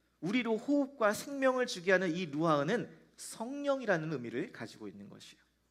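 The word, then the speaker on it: רוח: 루아흐. 루아흐. 근데이 흐라는 발음을이 히브리어는 그냥 흐가 아니라 단전에서부터 끌어올려서 이렇게 하셔야 돼요.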